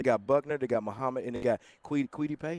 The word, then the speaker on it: Kwity Paye: They got Buckner, they got Muhammad, and they got Kwity Paye. How you pronounce it? Yeah, Kwity Paye.